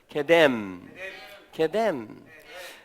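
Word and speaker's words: קדם: 그래서 이것을 케뎀이라고 읽는 것입니다. 한번 우리 소리를 내볼까요? 케뎀.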